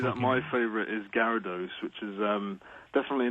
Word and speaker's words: Gyarados: It's spelled Gyarados. It's Gyarados.